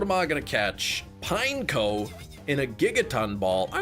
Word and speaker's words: Pineco: When I was younger, like a little kid, you thought it was Pinnico. Well, there you go. Pineco is like he's a pine cone, but they literally looks like a pine cone, and they just took the ne off the end.